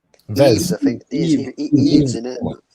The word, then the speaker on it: Yves: Eves, I think.